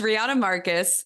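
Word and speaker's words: Riejanne Markus: think that goes without saying but then Rihanna Rihanna Marcus is that that's how you say her name right yeah it's Rihanna Marcus uh she's a Dutch Rider she races for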